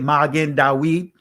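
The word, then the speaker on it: Magen David: to it star david magen dawid magen star dawi david i'm just saying it in the israeli pronunciation as to magon da wad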